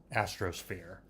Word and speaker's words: Astrosphere: Yes, that's how you pronounce it, Astrosphere.